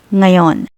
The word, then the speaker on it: ngayon: need to know is ngayon. Inalog, the English word now translates to ngayon. But depending on the context, it can also mean right now at this moment or even today. Ngayon pronounced nga yon is used to express